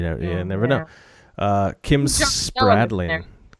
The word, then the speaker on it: Spradlin: ya never know Kim's Spradling Kim Spradlin Rose Tony likes to say Kim Spradling Spradling everybody's name wrong it